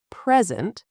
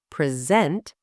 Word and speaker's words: present: Example, the word present, stressed on the first syllable, present, is a noun, a gift, something you give. The same word, stressed on the second syllable, present, is a verb, to present, to show or deliver something.